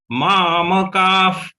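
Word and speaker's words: मामकाः: The visarga to be pronounced as F. Just we have to release some air from our mouth.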